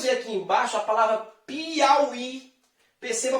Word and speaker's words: Piauí: Porque nós vamos ver aqui embaixo a palavra Piauí. Perceba a palavra Piauí. Pi-au-i. Perceba que o I está depois de um ditongo decrescente. Ah, professor, mas Piauí é acentuado.